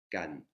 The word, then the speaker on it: การ: Le premier, qui est une voyelle courte, il se prononce kan, avec la lettre kokai qui est représentée par un G, parce que le son est entre le que et le ge. Donc ça va être le son kan.